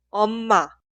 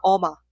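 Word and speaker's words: 엄마: Omma, omma, omma. Omma significa mamá. Pero cuidado, no se pronuncia oma.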